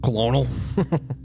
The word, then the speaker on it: colonel: going to say like why is Colonel pronounced like that colonal yeah I don't know